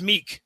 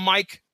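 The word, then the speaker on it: Miek: A guy by the name of, I'm going to pronounce it as Meek. How's that? Are you guys going to call him Mike? Nope.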